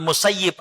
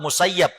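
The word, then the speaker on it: المسيب: Di antaranya adalah Said ibn Musayyib atau Musayyab. Ada dua cara membaca.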